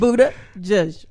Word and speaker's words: Buttigieg: I can pronounce his name. You couldn't. It's Buttigieg.